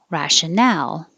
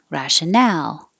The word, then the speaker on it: rational: And rationale, 1, 2, 3, rationale. And if there's no E, it's rational. Stress on the first syllable, rational.